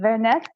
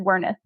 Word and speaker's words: Werneth: name so I think in German it would be something closer closer to veret but my ancestors came